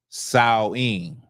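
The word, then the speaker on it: Samhain: So, Halloween, as y'all know, Halloween is uh Sam Hayne. Now, the way it would have been pronounced is sawing. Okay, sawing. But because I don't feel like doing all that, we're just going to say Sam Hayne.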